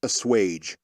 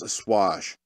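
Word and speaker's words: assuage: you know at least I know how to pronounce pronounce a swage all right only like very obscure it it just made me feel better it's like Jesus guys smart and then he goes a swash it's like dude you're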